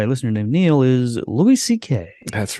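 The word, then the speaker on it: Louis C.K.: it's pronounced ck is that really how it's pronounced the whole thing that's why he calls himself that's all right louis ck is an american comedian writer director editor and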